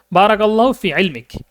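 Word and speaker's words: بارك الله في علمك: হ্যা ইলমিক এরকম দিলাম মানে কথা বলার ক্ষেত্রে আমরা তখন যে ইলমিক কাকে এটা উচ্চারণ করা হয় না কথা বলার ক্ষেত্রে এটা সাগিন করে দেওয়া হয় বারাকাল্লাহু ফিলমিক এরকম বলে দেওয়া হয় ঠিক আছে আমরা যদি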